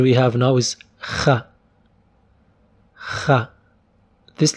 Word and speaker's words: خ: You can think of soft ka. Ka, it is kha. This letter is there for Spanish language. So anyone who knows Spanish, he knows this letter kha.